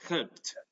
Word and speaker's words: helped: So, for example, here in help, you have T, right? It's pronounced as helped, right?